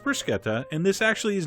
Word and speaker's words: bruschetta: foodies and want to really annoy them somebody pronounce this for Kota and mushroom bruschetta man do they hate that but it is pronounced bruschetta and this actually is not a true bruschetta